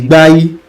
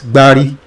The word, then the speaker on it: Gbai: Its indigenous dwellers were the Gbai, corruptly pronounced as Gbari, by their neighbors, the Nopes, and Gwari by the Hausas.